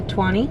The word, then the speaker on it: Toiny: It's called Plage de Toiny. Yeah, Toiny. There's literally one person at the beach. I think they pronounce it like 20.